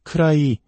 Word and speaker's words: could I: 쿠드 아이라고 또박또박 발음하면 무척 어색하게 들립니다. 디사운드가 모음과 모음 사이에 오면서 우리말의 리을 받침과 유사한 부드러운 소리로 변합니다. 그래서 크라이 혹은 크라이처럼 들리게 됩니다.